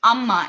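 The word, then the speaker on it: அம்மா: it um yeah so how many syllables did you just get two two syllables so you clap twice when you get when you say the word amma so it's and when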